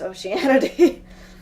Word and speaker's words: Oceanity: is it weirdly pronounced, Oceanity or Ocean something else? And I'm just like, it's pronounced Oceanity. It's like, it's weirdly how I pronounce it, but yes, we